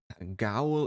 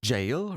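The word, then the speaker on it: gaol: goal all right so gowel is oh it's good fangness so it's actually prison yeah prison and jail and now let's see how we pronounce it jail jail are you kidding it's it's jail really Jail jail yeah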